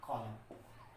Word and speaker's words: column: SOLEMN, COLUMN, ये जो word है इसको हम पढ़ेंगे सॉलम। क्या पढ़ेंगे? सॉलम। और इसको पढ़ेंगे कॉलम। क्या पढ़ेंगे? कॉलम। तो हम ये देख रहे हैं कि इसमें एन साइलेंट रखा जा रहा है, इधर भी एन साइलेंट रखा जा रहा है।